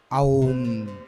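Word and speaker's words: ॐ: ओम का शुद्ध उच्चारण क्या है? ओम। आ बोलो, आ ऊ मा। अब तीनों को बोलना ओम ओम, आ ऊ ओम। तीनों उच्चारण होने चाहिए, आ ऊ मा। आ बोलो, आ ऊ मा, तीनों को जोड़ा तो क्या उच्चारण बना? ओम ओम ओम। ये उच्चारण शुद्ध है, ओम।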